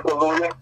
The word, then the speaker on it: Kaluuya: I never pronounce it right. Daniel Kaluuya.